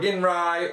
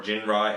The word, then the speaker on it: Ginrai: So, once again, just to reiterate, Chop Shop was $264, $597 for Windblade, $606 for Ginrai, or Jinrai, however you prefer to pronounce it, and $622 for Triptychon.